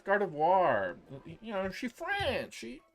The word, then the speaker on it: Gardevoir: How do people What how do people mispronounce that? Gardivoir. Gardavore. Gardavore. People think Gardevore. Yeah, I've heard that before. Gardavore. That's what Cheesel said. Gardavore. Gardavore. A lot. Yeah. Yeah. No, that's Gardevoir.